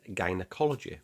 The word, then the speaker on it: gynecology: The G is soft, but then there's gynecology, which, despite having a Y after the G, always uses a hard G.